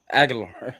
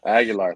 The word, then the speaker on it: Aguilar: Aguilar. Aguilar. Thank you. Yeah, Joey Aguilar.